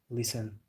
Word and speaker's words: listen: Also many silent letters like the W listen, you don't say the T.